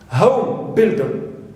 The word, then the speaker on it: home builder: so we stress rock home builder we stress ho right now for open